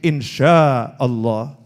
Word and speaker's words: insya Allah: Nah tulisannya INSHA tapi dia bacanya itu insya. Oh keliru nih itu ya. Oh itu pakai shin, insya Allah.